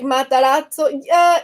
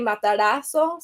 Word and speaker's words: Matarazzo: Like Matarazzo, so that is the correct way. But I just say again because I like pronounce it more like Spanish. I just say matarazo, so matarazo, without the t sound, just matarazo.